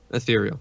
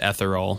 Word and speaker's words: ethereal: of dreamlike quality to ethereal yeah ethereal you said etheral I thought that was some kind of like alcohol or something that I hadn't heard of well I guess I've been pronouncing it the wrong way the whole time you have a yep